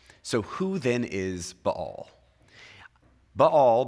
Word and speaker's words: Baal: would actually be B-A-apostrophe-A-L, which is why you would hear a lot of scholars pronounce it as two syllables, Baal.